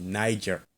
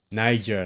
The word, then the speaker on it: Niger: the word, not nigger, Niger, right? Niger, like the country Niger, like the country Nigeria, okay?